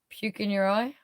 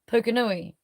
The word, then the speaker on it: Pukenui: That's not how you say it if you're Māori, but that's how you say it if you're a foreigner, a traveller. Most white people in this country, even some Māoris say it like white people. Palangi as, bruv. It's actually said Pukenui, but it is spelled like puke in your eye.